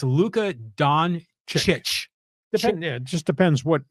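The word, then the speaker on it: Dončić: you talk to well apparently the C's in his last name are pronounced like a CH exactly so it's not Luca Don siik or Don sich it's Don chit this is coming from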